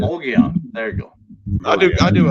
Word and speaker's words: Mogollon: It's the Mogollon Monster. We all know that. I'm just playing. Mogollon.